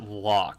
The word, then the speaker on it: Lok: watching dan pena and dan walk which is or Lok I don't know how to pronounce his last name properly and it really bothers me he pronounces it lock so I'm gonna assume that's to well no that's the correct pronunciation for him that's the most important thing but like his mentor calls him pronounces it Lok which kind of makes me scratch my head but the both of